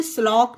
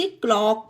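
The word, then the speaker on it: clock: का उच्चारण का पढ़ेंगे इसे स्लॉक नहीं पढ़ेंगे इसे क्लॉक पढ़ेंगे है ना समझ गए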